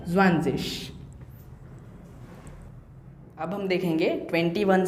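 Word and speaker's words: zwanzig: ये जो लास्ट में जी है इसका प्रोनाउंसिएशन कैसा आएगा? ज़्वानज़िश।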